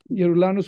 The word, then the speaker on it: Yeroulanos: Yeroulanos with a Y is pronounced Yeroulanos all over the world, but Yeroulanos with a G is pronounced Geroulanos, Geroulanos, or Yeroulanos, depending on where you are.